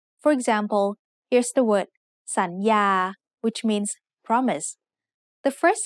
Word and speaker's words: สัญญา: So the first syllable makes the sound สัน with a rising tone. The second syllable has the initial consonant ยอหญิง and the vowel สระอา so it makes the sound ยา with a mid-tone.